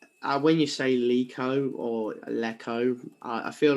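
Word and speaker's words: Leko: And I watched his interview with Blues TV, and he said it's Jonathan Lico.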